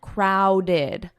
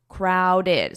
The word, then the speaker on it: crowded: Now notice the pronunciation, crowded, crowded. So we have those two syllables, crowded, crowded.